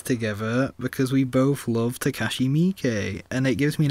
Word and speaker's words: Takashi Miike: Yeah, but you also butchered his last name as well. It's Takashi Miike.